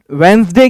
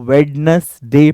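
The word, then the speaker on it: Wednesday: pronunciation है उच्चारण है बहुत सारे लोग इसको वेडनेसडे पढ़ते हैं यह गलत है एक्चुअली ये वेनसडे होगा और यह जो रीडिंग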